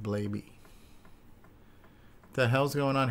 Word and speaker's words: Blaby: Or is it Blaby or Blabby? I don't know. Blabby? We'll find out on the Dragon Special. Yeah, I think the Lava Lamp guy pronounces it Blaby.